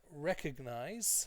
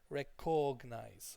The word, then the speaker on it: recognize: The next one is this one, recognize. Okay, sometimes students over focus on the CO. They might say recognize, okay, and that's not correct. Or they sometimes also overemphasize the cog, recognize.